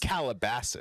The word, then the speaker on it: Calabasas: But in but it's America, it's pronounced- Calabasas. Calabasas. Yeah, that's the name of the city, Calabasas. Calabasas.